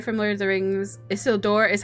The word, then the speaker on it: Isildur: Isildur is how you pronounce it.